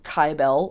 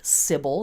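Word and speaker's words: Cybele: sweet old gal named sybil or kybell i pronounce her name kybell a lot of people pronounce her name sybil they spell it with a c i spell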